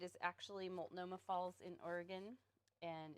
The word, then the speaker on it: Oregon: It drives me crazy when I hear people pronounce it that way. It's not Oregon, it's Oregon.